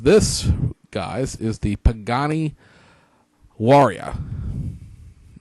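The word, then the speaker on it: Huayra: guy's is the Pagani warrior at least that's the way you pronounce it in Italian I know spelled like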